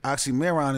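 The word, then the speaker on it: Oxxxymiron: Say it like that. You didn't know. You got to roll it hard. Yeah, nigga. Oxymoron. Oxymoron.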